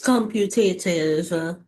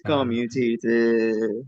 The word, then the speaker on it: commutative: Because multiplication It's computative. It's commutative. Oh, wait, I say it wrong. Sorry. Yeah, you see it. You say computative.